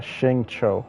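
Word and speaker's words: Xingqiu: Um, you pronounce his name uh Shingcho, by the way.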